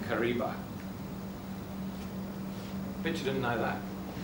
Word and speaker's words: Kariba: to be trapped and they used the word r Kiva and that because of the difficult pronunciations the different pronunciations of the dialects uh became Kariba bch you didn't know